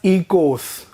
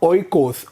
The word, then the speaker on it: oikos: this is pronounced as ecos not oikos many popular videos and pronunciation guides will tell you as oikos but it is pronounced as ecos as in ee kos ecos means household nomos